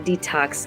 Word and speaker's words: dtocs: owner and founder at detox and this is spelled non-traditionally just like the word iPhone making it cool d t o CS because it sounds cool but it means it